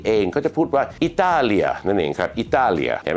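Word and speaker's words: Italia: อิตาลี นั นะ ครับ ประเทศ อิตาลี เขา จะ ออก เสียง อย่าง งี้ ครับ แล้ว เขา จะ สะกด แบบ นี้ นะ อิตาเลีย นั่น เอง ครับ อิตาเลีย เห็น มย ดัง นั้น สำเนียง ไทย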